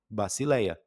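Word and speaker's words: βασιλεία: Eh, por exemplo, aqui, ó, a única que tá um pouquinho diferente é o sigma e o e o lambida, mas uma vez você identificando que tem o som de s e a outra de L, pronto, bacileia, que significa reino.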